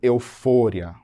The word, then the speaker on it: euforia: Eufória. No português, eu digo euforia.